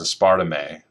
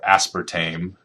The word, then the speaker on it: aspartame: but I'll drink a a Coke that has aspartame or aspartame depending on how you want to pronounce it uh in it that was there's